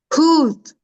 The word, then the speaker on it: حوت: hoot, Encore. hoot, Encore. hoot, Essaie de prononcer le ha bien la dernière fois, bien.